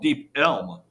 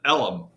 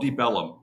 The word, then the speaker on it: Deep Ellum: now right and the the actual real name of the area is called deep elm e-l-m but they pronounce it ellum and it just stuck so it's called deep ellum way back even way